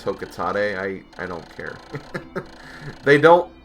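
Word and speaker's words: Hocotate: I always say Hokate, but apparently it's Hokotate.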